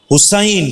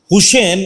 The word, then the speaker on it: হুসাইন: আম্মু বা অভিভাবকদেরকে, রাফাত হুসাইন হবে। হুসেন এই শব্দটা আরবিতে নাই, হাসান অথবা হুসাইন। ঠিক আছে ইনশাআল্লাহ। আল্লাহ তাআলা সুন্দর নাম, খুব এক্সিলেন্ট নাম, উচ্চারণটা হুসেন না হয়ে হুসাইন হবে।